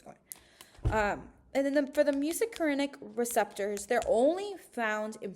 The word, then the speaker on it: muscarinic: Music can be excited or inhibitory. Muscarinic, muscarinic. It reminds me of music, just how you say it.